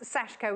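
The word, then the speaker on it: sashiko: what is this sashco it's pronounced sashko we went and found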